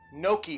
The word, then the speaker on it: gnocchi: Number 3, oh, gnocchi has a silent G.